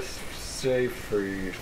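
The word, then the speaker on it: Seyfried: else it got Amanda sa free I cannot remember how to say her name so say sa free I can't freed you say field I I just but it's not field it's like fried whatever the girl from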